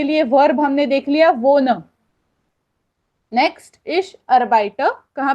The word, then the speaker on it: wohne: Okay, उसके बाद इश वो न इन बेर्लिन, वो न ये जो वर्ब है ये यूज किया जाता है, WOHNE, वो न।